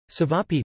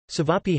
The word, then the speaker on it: Ćevapi: Ćevapi, pronounced TV, pie, or Ćevapcici, formal diminutive, TV, aptiti,